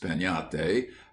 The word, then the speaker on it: piñata: But everywhere, children would be talking about breaking a piñate, pronounced peñate, as you talk of having a tree.